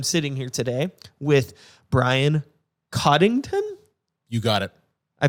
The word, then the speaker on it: Cottington: together but I'm sitting here today with Brian Cottington you got it I pronounce that you pronounced it perfect thank you